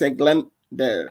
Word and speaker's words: Eglander: It's like England, but it's Eglander.